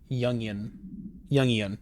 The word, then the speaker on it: Jungian: Okay, how do I pronounce that word? Jungian. Pronouns. Jungian.